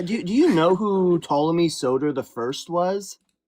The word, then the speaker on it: Ptolemy: There was someone who came up yesterday and was like Ptolemy and I'm like the P is silent and he kept saying it weird.